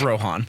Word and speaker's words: Rohan: It's just Rohan.